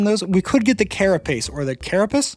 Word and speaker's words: carapace: We could get the carapace or the carapace. Definitely not pronounced carcapace like I was pronouncing it in the last video.